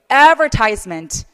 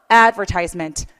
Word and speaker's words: advertisement: 그래서 얘는 앞에 강세를 주는 게 맞아요.